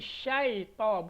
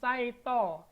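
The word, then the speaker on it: شيطان: A'u ya, ini syai, bukan sai. Banyak ini pelafalan yang salah dicontohkan ya. Contoh pelafalan isti'azah yang salah. A'udzubillahi minasyaitonirrajim. Salah total karena ini ain a'u, bukan a'u. Ini sya, bukan sin. Jadi syaito, bukan saito.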